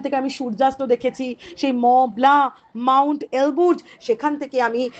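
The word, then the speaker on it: Mont Blanc: এলবু এন্ড ম ব্লা এখানে কিন্তু মন্ট ব্ল্যাংক নয় উচ্চারণটা মলা তাহলে আপনার গল্প পড়েই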